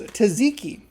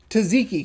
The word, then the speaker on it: tzatziki: And the last flavor is the wavy version, which is Tzatziki, which is kind of weird that I know how to pronounce that, but it is. I love you got a double Z in there. Tzatziki.